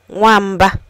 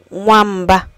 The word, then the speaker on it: nwamba: Today's EU word is womba. Wamba means cat. Learn how to say it by repeating after me. Womba.